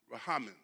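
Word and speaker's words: רחמים: Mercy in the Hebrew is pronounced rahamim.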